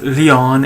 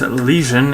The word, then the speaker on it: Lesion: One, yes, I know, it's not Leon, it's Lesion, Lesion. I forgot the ES, sorry, I have a bit of a memory issue.